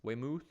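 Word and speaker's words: Weymouth: of the pack ma football guys saying it's pronounced waymoth a little way south of Boston wayth Waymouth Waymouth Waymouth Waymouth a little way south of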